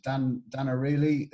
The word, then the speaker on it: Dan Ariely: I know that I've read in the past a book by, I can never pronounce his name correctly, but I can put it in the notes later. Dan Ariely, I think it's Dan Ariely.